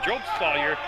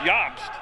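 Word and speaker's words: Jobst: and EV Ys now I pronounce his name job saw year it's yobst SP J obst but pronounced yobst he's got the basketball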